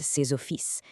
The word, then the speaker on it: ses offices: It's the same for des amis and ses offices.